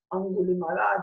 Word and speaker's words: Aṅgulimāla: His title was, or the way that they pronounce him, it's Aṅgulimāla, the one with the necklace with finger.